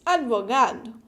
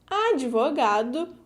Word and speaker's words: advogado: Theoretically, we should pronounce the D alone, like this, advogado. But we Brazilians don't normally do that. Or we pronounce advogado with an E or advogado with an E.